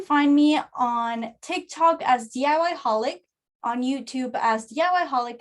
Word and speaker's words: DIY Holic: You can find me on TikTok as DIY Holic, on YouTube as DIY Holic as well. The way it's spelled, the way it sounds, it's the way it's spelled, DIYHOLIC.